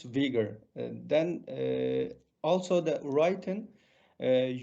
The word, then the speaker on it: Uyghur: it the word order we pronounce in our language in vegan language and that's used in english language vigor as i pronounce vigor then also the writing